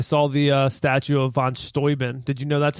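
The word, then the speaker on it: von Steuben: yeah so I saw the uh statue of Von stoin did you know that's how that's pronounced I didn't I thought that but sounds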